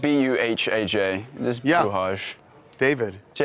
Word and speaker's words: Buhaj: it's spelled B-U-H-A-J.